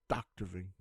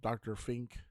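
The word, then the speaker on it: Vink: he introduces himself by saying Vin's the name Dr Vin he would also get his name mispronounced usually something like Dr Fink when this happened he would respond with a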